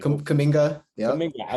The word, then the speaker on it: Kuminga: Kumbanga kid, if I'm pronouncing that right. Kuminga.